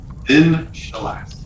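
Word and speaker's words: Xin-Shalast: Zin Shalast.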